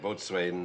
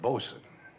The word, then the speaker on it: boatswain: You were the after-deck boatswain on the SS Paradise, is that correct? I was the after-deck bosun. The court takes judicial notice of the correct pronunciation.